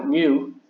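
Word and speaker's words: μ: coefficient of friction and that looks like a u2 but that's actually a Greek letter and how you pronounce it is mu and the w it's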